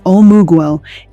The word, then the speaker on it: omugwo: Omugwo, and for the pronunciation guide, that is omugwo, is an Igbo postpartum care tradition.